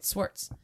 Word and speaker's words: Swartz: I want to say Schwartz, but there's no CH in it. It's Swartz. Cynthia Swartz.